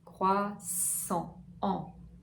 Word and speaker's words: croissant: Croix, wa, comme oiseau, croix, sang, sang. Voyelle nasale, comme si c'était un A, une voyelle A, mais avec l'air du nez. Croissant, croissant, un croissant.